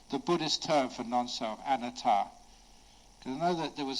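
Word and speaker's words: anattā: gonna be very careful when she when you pronounce see the Buddhist term for non-self an ATAR gonna know that there was this Western man who once in England he pronounced it an ATAR or a nutter and he was talking to this english lady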